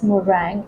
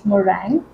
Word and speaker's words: meringue: chy custard pink morang caramel pudding so it's pronounced as morang it's not uh m e r i n guu e it's not M it's morang so um I I myself had to Google